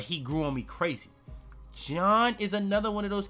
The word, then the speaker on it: Jean: I always thought his name was Jean, but apparently it's John.